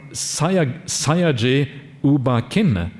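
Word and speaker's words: Sayagyi U Ba Khin: teachings that he taught in the 1950s from sayaji uba kin of burma in a lineage is it how do you pronounce that yes okay so i got it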